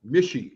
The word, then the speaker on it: Mische: say your last name mishy so it Rhymes oh mishy okay with Squishy and fishy and isy and any of the isys so okay and so